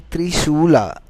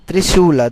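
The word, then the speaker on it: त्रिशूल: Trident is actually Trisula. That's how it's defined. That's how it's pronounced in Sanskrit. It's called Trisula.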